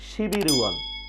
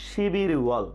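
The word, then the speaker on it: 십일월: আমরা স্ক্রিনে দেখতে পাচ্ছি শিব ইল ওয়াল, কিন্তু এর উচ্চারণ হবে শিবির ওয়াল, শিবির ওয়াল, শিবির ওয়াল।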